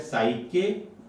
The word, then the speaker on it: psyche: पहला शब्द है साइके, आप इसे साइकी भी कह सकते हैं, ये उच्चारण का दोष है, एक ही बात है, PSYCHE।